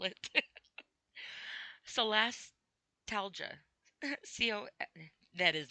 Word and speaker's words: solastalgia: Can I just spell it? Solastalgia. C-O, that is not even a C, that's an S. Jeez, Okay, let's try this word again. Solastalgia.